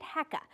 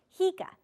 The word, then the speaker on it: HECA: idea is so divisive even the pronunciation of its name is controversial we have long called it hecka but recently that pronunciation has become contentious so for the purposes of this story we'll call it what the developer calls it hea short for hydrogen